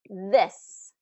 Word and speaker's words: this: out loud with me this this has that short I this versus these these has the long e e e these okay this these